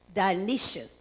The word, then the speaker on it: Dionysius: was in AD 260, and Elder, do you pronounce that a Dionysius? Dionysius.